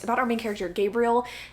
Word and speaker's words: Gabriel: It's about our main character, Gabriel, even though the narrator pronounced it Gabrielle, which I feel like is the feminized version of the name Gabriel.